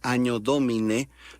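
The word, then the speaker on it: Anno Domini: Anno Domine, se pronuncia Año Domine, la doble N tiene el valor de nuestra ñ, fonéticamente hablando, es el año del Señor.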